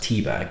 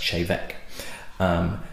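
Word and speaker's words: Té Bheag: They also do a blend, which looks as though it's pronounced teabag, but it's actually pronounced chevek.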